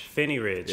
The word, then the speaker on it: Phinney Ridge: Ballard Fremont Piney ridge so how you say it Finney rich Phinney Ridge I was an H in there so it's nice